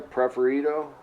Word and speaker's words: Preferido: Preferido?